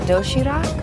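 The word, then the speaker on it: 도시락: healthy variety of neatly packed food it's called doshirak yes uhhuh am I pronouncing that right you're very good you can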